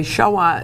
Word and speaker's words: Shoah: a lot of people to say shaah is a lot easier than saying Holocaust it's one syllable as compared to three it's easier to pronounce